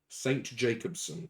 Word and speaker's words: St. Jacobson: Um, William St. Jacobson. Yep. Is that St. Jacobson as in sing? Uh, no. It is the word Saint is fully pronounced. It's not just St.